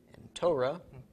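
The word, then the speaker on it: תורה: a whole um race hey comets under the race so tow raw how this is pronounced Torah law or more accurately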